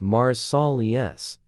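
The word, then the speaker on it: Marseilles: National Guard base in Marcellus, pronounced Mars-Sol-Es, Illinois, in January.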